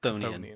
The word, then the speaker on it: Chthonian: How's it pronounced? Chthonian.